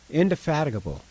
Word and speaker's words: indefatigable: Indefatigable, how is that word pronounced? Indefatigable.